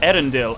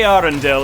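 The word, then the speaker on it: Eärendil: you the light of erendill our most beloved star it's a arendelle and he puts two little dots on the a specifically to tell you that the a and the e are both pronounced is literally what that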